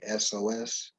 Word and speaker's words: Hyksos: I'm pronouncing it Hyksos, but it's Hyksos.